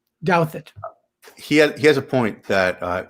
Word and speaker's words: Douthat: It's yes, it's Douthat. Douthat.